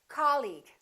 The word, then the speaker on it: colleague: words the second one did you say colleague or colleague he's my colleague that's right once again it's the first syllable repeat after me colleague colleague he's my new colleague let's look at the